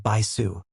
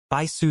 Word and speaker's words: Bisu: The strongest disciple in evil lust sect is called Bisu. The Sue in her name is pronounced softly. Bisu is a girl, but she's incredibly talented and has an incredibly shocking talent.